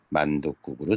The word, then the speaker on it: 만둣국: 만둣국으로 적어야 된다. 합성형사 맞으니까 만둣국. 그래서 발음은 이렇게 합니다. 두 가지 발음이 다 허용돼요. 사이숏을 발음을 안 해도 되고 디귿으로 발음해도 되고.